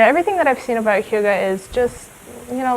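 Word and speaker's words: hygge: And this is the essence of uh, Huga. Yeah. Pronounced Huga.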